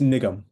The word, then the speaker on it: Nigam: Is that the right pronunciation of Nigam? It's Nigam.